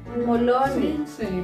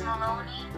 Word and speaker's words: Maloney: Everything is silent G. Okay, next. Next one. Mom. Moloni. Moloni. Moloni. Not Molovni. Moloni. Ken, what's the correct? Moloni. Ken. Ken is Maloney.